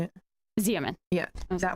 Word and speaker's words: Xeomin: Xeomin.